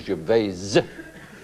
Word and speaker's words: Gervais: No, Ricky Jves. I don't know. You don't know? Well, I I assume the proper pronunciation if you're being really ponyy is Ja cuz it's cuz it's French.